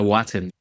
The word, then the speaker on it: Watin: Is it just pronounced like Watin or? Oh, it's Watin. Watin. Okay. Emphasis.